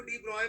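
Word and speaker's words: de Broglie: Victor Louis डी ब्रॉय, ठीक है, इसको डी ब्रॉय प्रोनाउंस करते हैं।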